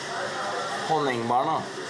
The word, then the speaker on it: Honningbarna: Kato, do you know how to pronounce the band's name correctly? Yeah. Honningbarna.